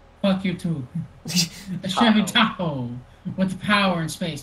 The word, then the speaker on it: Tahoe: Chevy Toho with the power in space to take blank everywhere you go.